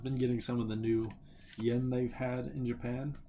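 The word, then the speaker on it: 円: n e n n it's not Yen it's just n sen n instead of sen Yen it's sen n um but of course uh outside of Japan you just pronounce Yen instead of n but the kanji itself whenever you like listen to Japanese people whenever they like uh convenient stories and stuff they'll say n instead of yen so slight difference but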